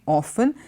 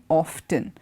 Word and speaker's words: often: ways some people say often some say often and ideally I think you could go over the word often where the T is silent okay so these were